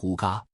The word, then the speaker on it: Hygge: In Denmark, there is a famous life concept called Hygge, pronounced as huga, which means a comfortable and happy lifestyle.